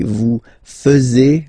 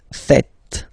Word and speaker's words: faites: quite funny because many French people tend to make the mistake and tend to say vous faisiez, okay, but then no, it's vous faites, vous faites, okay, so remember final S here is not pronounced, and then this is not pronounced either, so faites, faites, vous faites.